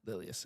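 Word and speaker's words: Lilleaas: Oh wait, Inga Ipsdotter Lilias. Lilius, yes.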